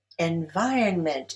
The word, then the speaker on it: environment: Environment is stressed on the second syllable.